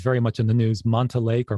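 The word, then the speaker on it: Monte Lake: that way you come to i hope i pronounce it late correctly it's very much in the news manta lake or monty lake that's correct and that's where um you know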